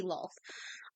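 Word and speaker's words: Lolth: it the wrong way I probably said it differently earlier but yeah it it should be LOL um but we I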